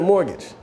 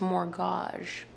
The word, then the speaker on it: mortgage: he's saying it wrong it's pronounced more gosh more guys more gosh first of all it's mortgage second of all mortgages are